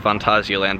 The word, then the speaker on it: Phantasialand: rural Germany and short disclaimer it is actually pronounced Fantasyland but you'll probably hear me call it a phantasialand throughout the video because stupid Americans and we